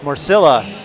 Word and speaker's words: Marcilla: and wild card so it's Marcilla that's how you pronounce her last name Naomi Marcella or Naomi Marcella I guess I haven't